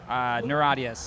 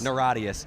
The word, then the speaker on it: Niratias: How did you pronounce it again? Neuradius. Neuradius.